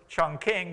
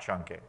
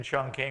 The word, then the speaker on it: Chongqing: And then, of course, Chongqing, which is the American pronunciation of that word, which is not Chongqing.